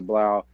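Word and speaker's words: 3LAU: find him on Twitter 3 l auau uh pronounced Blau he actually sold his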